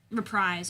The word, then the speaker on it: Reprise: Reprise.